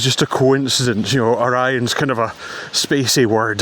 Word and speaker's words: Orions: So, I was wrong about that, but for some reason everyone's calling them Oreons. I can only imagine that uh someone heard the script posted out to them, mispronounced it, and everyone had to run with it.